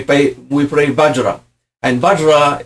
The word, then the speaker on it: vajra: we playay bajra and bajra is in English we spell it V A J R A bajra but the V is pered the lower lip on the H badra okay so bana means vehicle